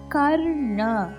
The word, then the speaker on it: கர்ண: கர்ண கா கமலாக்கு வர கா. கர்ண 3 சுழினா அழுத்தமா உச்சரிக்கணும். கர்ண.